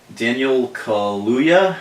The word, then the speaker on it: Daniel Kaluuya: All right, so Daniel Kaluuya, I believe is the pronunciation of his name, is the guy who